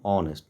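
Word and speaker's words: honest: नेक्स्ट ही is dash ऑनेस्ट man spelling तो शुरू हुआ इज से लेकिन इसका प्रोनंसिएशन है ऑनेस्ट नॉट नेस्ट सो इसलिए ओ से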